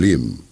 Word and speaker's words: John Lim: Chief Marketing Officer John Lim. That's the correct pronunciation, Jeanne, Jean.